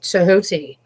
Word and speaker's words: Thoth: And similar to Thoth, but I believe Thoth is actually pronounced Tehuti. Thoth. Tehoth. Tehuti. And so I'm like, okay,